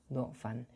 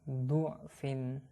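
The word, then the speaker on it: ضعف: 30 ada pelajaran bahwa huruf dot pada lafadz do'fan ini boleh dibaca fathah maupun dhammah. Kalau di dalam Al-Quran kalian huruf dot ini berharokat fathah ya, tapi dalam pengucapannya ini boleh dibaca dhammah.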